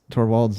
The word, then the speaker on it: Torvalds: The one that I think is funny is all the people who mispronounce Torvald's name. It's Linus Torvalds.